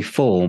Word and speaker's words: Fahl: in the UK it's it's very full but it's spelled f-a-h-l in case you go